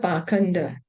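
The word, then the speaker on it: pākhaṇḍa: understood the whole situation the word bakanda used in this verse is sometimes pronounced passenger both of these words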